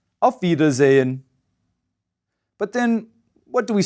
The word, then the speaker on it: auf Wiedersehen: might have heard before auf wiedersehen note that veda zane is spelled with a w but like all german words spelled with a w it's pronounced as a vida holden's bitter so